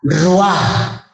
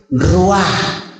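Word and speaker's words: רוּחַ: Entonces, en el Antiguo Testamento, la palabra Espíritu Santo o la palabra Espíritu está consignada con una palabra hebrea, Ruah, R-U-A-H, Ruah. A ver, pronúncialo conmigo, Ruah, Ruah.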